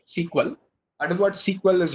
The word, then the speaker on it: SQL: that is what sequel that is sq exactly pronounced sequel out of what sequel